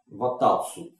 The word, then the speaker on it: Ватац: И трон он завещал своему зятю Иоанну Дуке Ватацу. Вот так ударение Ватац.